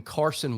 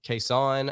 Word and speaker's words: Cason: just kind of acclimated to Carson some people say uh case on I've said Cason Wallace uh since he since he's come to the Wildcats but I I I